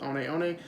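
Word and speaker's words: One One: looks are said sorry looks like hookah one but it's pronounced Oni Oni so I sold those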